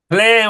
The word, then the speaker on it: Plein: Plein with a smile.